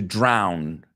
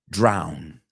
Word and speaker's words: drown: in the water okay drown ow the sound is ow drown okay I don't want you to drown now just be careful is to choke it's very different okay to drown versus to choke right I know in Spanish you those words can be interchanged okay so drown say it say it with me ten times if you have to ow drown the second word drawn